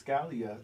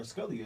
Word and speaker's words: Scalia: of course we understand that Supreme Court Justice Scalia or Scalia is pronounced suddenly died into his Texas ranch a